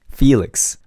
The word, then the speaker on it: Felix: Felix.